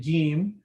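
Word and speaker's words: جيم: So the Jeem, when you pronounce it Jeem, the middle or front portion of your tongue, it's hitting that area to make that Jeem sound.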